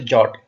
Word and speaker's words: JWT: as a jot but it is pronounced as a jot it is a compact